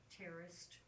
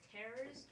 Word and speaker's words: terraced: So we have what is called terraced dynamics, and it's spelled exactly like it sounds. So write it down. Terraced, terraced dynamics, which are contrasting. Say what? Terrorist or terrorist? No, neither one.